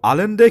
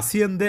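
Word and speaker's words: Allende: যে প্লেয়ারের নাম তাদেও আলেন্ডে কিংবা আর্জেন্টাইন স্প্যানিশ উচ্চারণে অনেক সময় আসিয়েন্দে এমন টাইপের একটা কিন্তু নাম, যাকে আসলে এমন উচ্চারণও শুনতে পারেন, তাদেরও আলিয়েন্দে কিংবা আসিয়েন্দে।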